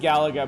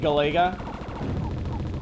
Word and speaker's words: Galaga: know I know it's Galaga I know it's pronounced Gallagher but honestly I grew up I spent my entire life calling it gallega and that's not the easiest thing to like